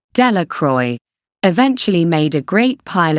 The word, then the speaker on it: Delacroix: Bobby and Harry Jones and Dickie Delacroix, the villagers pronounced this name, Delacroix, eventually made a great pile of stones in